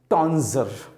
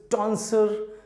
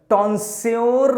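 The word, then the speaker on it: tonsure: टॉन्जर, this is टॉन्सर या टॉन्जर। टॉन्स्योर नहीं बोलिएगा, दिस इज टॉन्जर और टॉन्सर, ज और सा जो भी आपको सूटेबल लगे।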